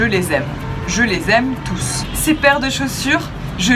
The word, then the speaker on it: tous: d'un pluriel pluriel masculin donc on prononce tous on prononce le s du tous mais il se place